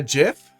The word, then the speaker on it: GIF: was that like a gif that is how it's pronounced by the way like giraffe and gel you don't say gel or GFF all trolls now on